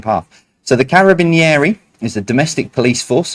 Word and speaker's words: Carabinieri: Number 5, start again, and I remembered how to pronounce this. The Carabinieri, not doing the accent, is the domestic police force of which nation?